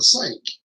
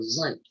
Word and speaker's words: zinc: Everybody around here called them a zinc, not a sink, but a zinc.